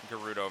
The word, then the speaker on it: Gerudo: Let's fight in uh Gerudo Valley.